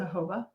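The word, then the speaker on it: jojoba: products the organic hoba is that how you pronounce it hoba according to google but it's j OJ o j OJ o ba Joba so I I used to always just call it Joba oil so sorry for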